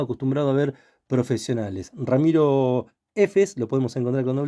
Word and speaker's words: Heffes: a ver profesionales Ramiro efes lo podemos encontrar con do F también en instagram no sí sí estoy en instagram como Ramiro efes diabetólogo todo junto con h y DF si escriben apellido por